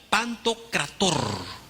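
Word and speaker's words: Παντοκράτωρ: una palabra que esta palabra es se se pronuncia pantocrator pantocrator traducido al español sería el todopoderoso ahora esta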